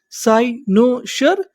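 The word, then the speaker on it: cynosure: यहां पर जो एस यू आर ई है इसे पढ़ेंगे शर। क्या पढ़ेंगे? शर तो हमारी मीनिंग क्या बनी? साइनोसर साइनोसर। साइनोसर का मतलब होता है आकर्षण बिंदु।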